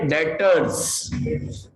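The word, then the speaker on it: debtors: B silent है, डेटर्स, डेटर्स।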